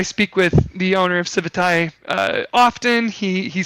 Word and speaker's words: Civitai: It's up on Civit AI or Civitai, depending on who you talk to. I speak with the owner of Civitai often.